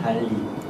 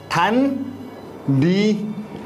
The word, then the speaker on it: 단리: 달리. 발음이 안 돼요. 달리가 아니라 단리 법이 있고요.